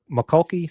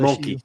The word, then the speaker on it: Mulkey: McCulkey, how do you say her? LSU? Mulkey, just Mulkey.